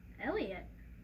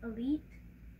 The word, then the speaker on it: Elite: Elliot? I believe it's actually pronounced Elite. What?